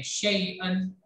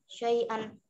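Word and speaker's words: شَيْئًا: या साकिन से पहले जबर को लंबा नहीं करते हैं। शैअन। शैअन।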